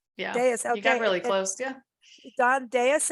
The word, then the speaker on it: Dais: baby won't be in the food am I pronouncing your last name correctly because I always give everyone new names and Deus yeah really close yeah Don Deus it's d-a-i-s-.com and again the book is called